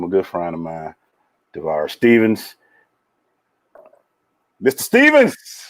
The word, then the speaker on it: Tavares: Tavares is the correct way to say it.